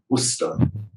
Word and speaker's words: Worcester: Not actually, it's 2 syllables, isn't it? Worcester.